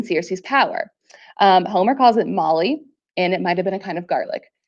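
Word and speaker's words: moly: But it literally is called Molly, and that's how it's pronounced.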